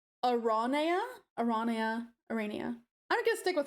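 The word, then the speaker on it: Aranea: It's pronounced Arania.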